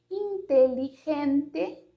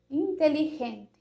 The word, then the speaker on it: inteligente: Esse R mais fraco, talvez, a gente poderia dizer assim, que seria esse som do J e do G. Por exemplo, inteligente, então esse G, inteligente, é totalmente diferente do inteligente, la gente, a gente.